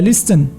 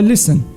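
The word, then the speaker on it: listen: هو الموس زيدك ها الثالثه اللي ساهله شنو غنقول لها ليستن لا غنسميوها ليستن يعني هذاك التي ماكتنطقش الكلمه الاخرى شنو نقدروا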